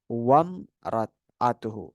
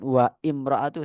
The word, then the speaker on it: wamra'atuhu: Tapi kalau di sini wamra'atuhu qaimah. Wamra'atuhu. Bukan wa imra'atuhu salah. Wamra'atuhu.